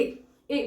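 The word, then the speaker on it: et: यानी एंड ठीक है फ्रेंच में ईटी बोलते हैं एंड को जब भी कहना होता है ना आपको एंड यूज करना है तो टी बोल के यूज करते हैं ए ए बोलते हैं इसको ठीक है तो ये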